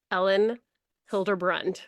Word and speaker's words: Elin Hilderbrand: just looked up how to say her name, Elin Hilderbrand.